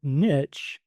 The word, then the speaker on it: niche: And so I did some research and I found out that niche is the pronunciation is the is the most common pronunciation and the oldest pronunciation in English.